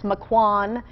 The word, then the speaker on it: Maquon: who's been calling in letting me know that it's maquon I did actually ask a few weeks ago how to pronounce that town nobody knew but now I know so thank you maquon we are still in